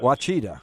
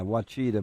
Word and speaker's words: Ouachita: Ouachita. Or how you pronounce it. Yeah, Ouachita.